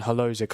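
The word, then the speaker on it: Hložek: Yeah, because it'll be Chori and Holozic up front. Let me just sort that out. That's how you say it. Yeah, Holozic, and then Chori, Thomas Chori.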